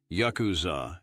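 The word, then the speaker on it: ヤクザ: This unfortunate combination is formed by drawing the cards 8, 9, and 3, pronounced as Yakuza in Japanese.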